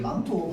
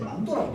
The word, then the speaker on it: 망토: 보통 아마 내가 생각하기를 저 망토 넣어 놓은게 망토 발음할 때 망도라고 다른 사람, 발음하는 사람 되게 많거든요.